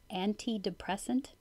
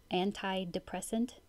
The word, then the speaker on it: antidepressant: more than one way antidepressant antidepressant or antidepressant it's just that an ta NT I could be pronounced anti anti or anta and to pronounce the